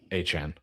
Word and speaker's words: Etienne: Apparently, it's a dialect thing specific to Jennings, which is where he's from, where they pronounced Etienne Achan. I just wanted to educate the masses. Apparently, it's solely a Jennings thing and how they pronounce it.